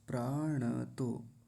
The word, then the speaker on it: प्राणतो: प्राणतो। यहां पर गलती क्या होती है? प्राणतो कह देते हैं। प्राणतो प्राणतो नहीं प्राण तो ऐसा बोलेंगे यानी णकार को आधा नहीं करेंगे। पूरा रखेंगे।